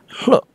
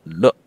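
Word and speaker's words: လွှတ်: free them right away the pronunciation is important you have to use the breathy hook not look one more time it's look the difference is is the verb to release without the breathy ha look is to be free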